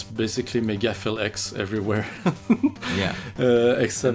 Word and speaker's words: MegaPhilX: there yeah it's basically megaflex everywhere yeah excellent that's not mega phil that's fill p h i l for the record just to spell it out yeah everybody and another